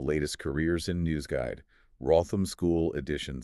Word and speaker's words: Wrotham: all from the latest Careers in News Guide, Wrotham School Edition 6. Okay. And we need to clarify something right off the bat, a pronunciation thing. It's spelled W-R-O-T-H-A-M. But it's pronounced Wrotham.